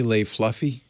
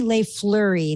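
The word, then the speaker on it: Lay-Flurrie: i'm saying it wrong jenny lay flurry not fluffy sorry my bad f-l-u-r-r-i-e she's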